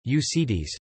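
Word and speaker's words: Únětice: The Unetice culture, Czech pronunciation, Unetice, Czech Unetica cultura, German Anjetitzer Kultur, Polish Kultura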